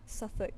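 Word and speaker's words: Suffolk: Yeah, SuffK. Yeah, it's pronounced like that.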